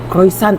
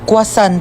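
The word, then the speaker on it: croissant: Croisant daw. Croisant? Ah quasant po.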